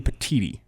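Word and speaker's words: Petitti: I screwed that up what's it supposed to be Elijah I'm supposed to be the tea professional petiti Tony petiti like petite I guess like petiti there we go kind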